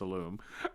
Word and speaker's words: Illume: got the pronunciation right there's always that tendency to make it sound like he's from France with a lum but it's a loom uh but uh Kevin's